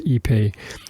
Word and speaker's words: ipe: it down the bottom ipe would pronounce ePay it's a very durable